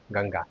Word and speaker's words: गंगा: और तीसरा है गंगा। यहां पर अंगा का उच्चारण हुआ।